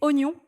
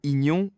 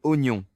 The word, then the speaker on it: oignon: Un autre classique, c'est Oignon franchement qui a décidé qu'on écrivait ça avec autant de lettres muettes. Si tu le lis comme c'est écrit, c'est un désastre. Totalement. J'ai déjà entendu des gens dire ignon au lieu de oignon.